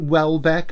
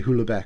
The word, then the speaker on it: Houellebecq: This is Submission by Michael, is it Houellebecq? I say Houellebecq because I'm Welsh, you know, I do like pronouncing this properly, but I'm Houellebecq, Houellebecq.